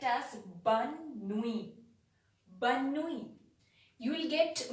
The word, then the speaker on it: bonne nuit: It is spelled as bonne nuit, bonne nuit.